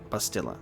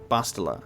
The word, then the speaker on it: Bastila: have to unlearn saying bastila because i've i've literally anytime i've seen it come up i've always just assumed that it was bustilla and it's bastila and it's i'm gonna have